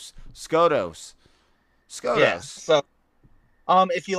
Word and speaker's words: Skotos: It is spelled SKOTOS.